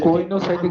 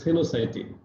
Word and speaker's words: coenocytic: ওকে, আমরা নেক্সট টাইমে কোইনোসাইটিক হাইফা। হ্যাঁ হ্যাঁ, কি বলো? কোইনোসাইটিক হাইফা। কোইনো না, এটা হলো সিনোসাইটিক, COENOCYTIC। উচ্চারণটা কি করবা? সিনোসাইটিক। সিনোসাইটিক। হ্যাঁ, গুড, সিনোসাইটিক। কোয়েনোসাইটিক অনেকে বলে, কিন্তু এটা উচ্চারণটা হলো সিনোসাইটিক।